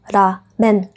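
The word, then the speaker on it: ラーメン: Toto slovo se vyslovuje v Japonsku jako Ramen.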